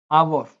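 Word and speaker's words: hour: एच कहाँ silent रहता है? कुछ वर्ड ऐसे होते हैं जिसमें एच है वो साइलेंट रहता है। जैसे ऑनर, सम्मान होता है ऑनर। आवर, घंटा जिसको बोलते हैं हम, 1 घंटा 2 घंटे।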